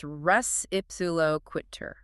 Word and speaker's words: res ipsa loquitur: We're staying in tors, specifically negligence part three, and focusing on res ipsiloquitter. Oo, a Latin one. Yep. And just so we're all on the same page with pronunciation, it's ressuloquiter. Reips quiter.